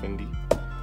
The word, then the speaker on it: Fendi: Fendi. It's actually pronounced Fendi.